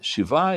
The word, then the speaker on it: shiva: And I came to his shiva.